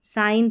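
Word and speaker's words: sign: साइन देखिए साइन पढ़ा यहां पर जी साइलेंट है।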